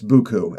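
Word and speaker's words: beaucoup: but here it's it's it's spelled like it's beaut but it's buku and I know everybody's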